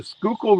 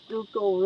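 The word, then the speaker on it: Schuylkill: or a river the river I'm on the skookul river in Southeastern Pennsylvania hence the name skookle River Rat yeah skookle pronounce skole I'm country but I didn't say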